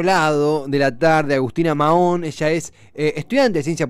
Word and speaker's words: Mahón: ¿Es Mahón? Sí, sí, la H es muda.